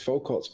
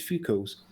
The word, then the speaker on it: Foucault: how i pronounce it i always say it's focused pendulum but you always correct me and say it's few calls uh he's not stupid